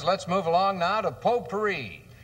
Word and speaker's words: potpourri: move along now to potpourri how do you spell that t OT pou AR RI then it's pot pourri ah now the T is silent how's that well T